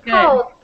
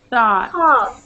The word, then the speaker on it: thought: Thought. And thought. Good. Thought. It's this O-U-G. Okay. That O-U-G-H is like, ah. You know when you're at the dentist? Ah. It's like that.